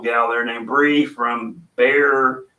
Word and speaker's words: Bexar: there named Bri from bear or she call it Bexar barbecue or it's I pronounce it bear bear county yeah and uh she